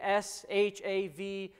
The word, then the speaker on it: Shavuot: It's spelled, as it shows on the screen, S-H-A-V-U-O-T, and it's pronounced Shavuot.